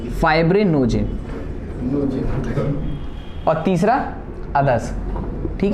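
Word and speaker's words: fibrinogen: Albumin, albumin, globulin, pronunciation सीख लो, globulin नहीं, और फिब्रिनोजिन, फाइब्रिनोजिन, और तीसरा अदर्स, ठीक है।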